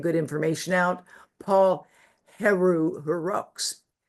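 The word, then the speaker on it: Héroux: Paul Heru Herox pronounced in French Eru um H E R O U X has done a brilliant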